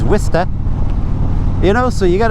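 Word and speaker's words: Worcester: You got uh skituit which is actually situ and uh you got warester which is wist you know.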